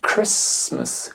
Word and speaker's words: Christmas: whistle whistle Noël se dit Christmas Christmas et non pas Christ Christmas mais Christmas et on termine en